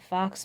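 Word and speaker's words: faux: not fake, you know, the word that sounds like Fox. F-A-U-X, I believe it's spelled. Fox metal.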